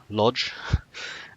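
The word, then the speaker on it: Łódź: We spoke to several Polish people, and each of them pronounced Lodz differently. Like that L is actually more like a W, but some people pronounced it like an R.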